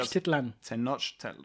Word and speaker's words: Tenochtitlan: Tenochtitlan.